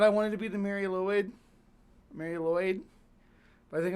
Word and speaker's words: Mari Lwyd: Seeing as she's acknowledging acknowledged difficulty with the Welsh accent, I'm cool with Mary Lloyd. as the most correct pronunciation.